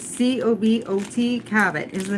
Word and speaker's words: Cabot: Cabot is the name of it, and it's strongly sharp cheddar cheese.